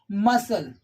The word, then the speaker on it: muscle: after the letter s when the letter c comes after the letter s it is silent then in that case we will have to keep this letter silent as we can see a few examples like muscle scene sent many more can